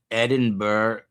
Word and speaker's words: Edinburgh: Edinburgh. The gh is silent from Levi Mcmanis.